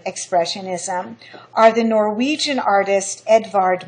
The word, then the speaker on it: Edvard: 20th century German expressionism are the Norwegian artist Edvard Monk and the Belgian artist James ensor monk is spelled Ed well his first name is spelled